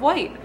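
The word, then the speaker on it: Wight: Island the Isle of white white is pronounced like the color white um it's a cute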